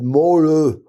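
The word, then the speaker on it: Maaløe: But Mole, that's how it's pronounced, but there are kinds of umlauts and things. Anyhow, slashes across the O's.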